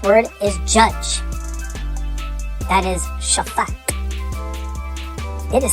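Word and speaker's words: שפט: That is Shaphat. It is spelled Shin, Pei, Tet.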